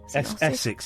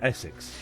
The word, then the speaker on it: Osyth: Is that how you say it? Essex, yeah. You say St Essex. Osyth. Yeah, Essex.